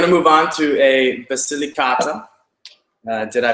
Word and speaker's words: Basilicata: so we're going to move on to a basilicata did i pronounce that correctly very good actually so we're